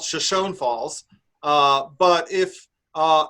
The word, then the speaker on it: Shoshone: where they got the name shoshone from they pronounce it shoshone and this is um they call it the